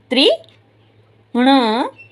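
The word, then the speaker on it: तृण: तारी त्रि ण त्रिण क्या बोला?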